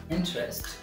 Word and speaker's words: interest: english okay next word eh interest twos labels interest interest means difficulty